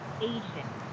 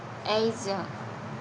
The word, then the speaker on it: Asian: What I told you about the vowels is if there's a word that is in between two vowels, Yeah. and that's normally letter S, it should be pronounced as Z.